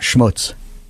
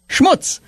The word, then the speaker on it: schmutz: like to talk about schmutz schmutz is a Yiddish word that means dirt d u RT or grime properly pronounced it should rhyme with puts and cuts it sometimes spelled schmutz